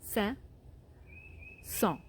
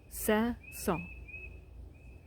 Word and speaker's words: Saint-Saëns: was from France, and how they say his name in France is two words. It's Saint. Say it with me. Saint-Saëns. Saint-Saëns.